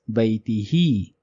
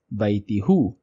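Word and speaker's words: بيته: it will be written as baitihi. It will not be written as baitihu.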